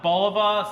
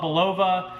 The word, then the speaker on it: Bulova: some people call it Bulova some people call it Bulova whatever however you want to pronounce it this one is called